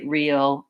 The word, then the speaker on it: real: extra sound real so you may find it difficult to say real and really because there's an R and an O so one thing to look at first if you really struggle is to make sure that you can make the American R sound with your tongue back and tight it sounds like her and what you may